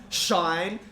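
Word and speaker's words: sinh: they're hyperbolic sign hyperbolic CA hyperbolic tan they're pronounced shine Kos don't ask me okay I didn't make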